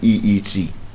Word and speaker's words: suite: Now, SUITE has the exact same pronunciation as SWEET.